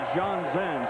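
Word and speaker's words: Jonzen: And a little discrepancy on how to pronounce his last name, but he tells Bill Tegans, the Cowboys radio voice, that he pronounces it John Zen.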